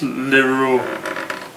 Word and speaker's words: Leroux: Yeah, it's Leroux.